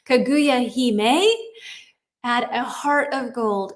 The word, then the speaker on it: Hime: We pronounce it okay. Hime. Okay. So that would be, hold on. And I'm going to write this for myself. He may.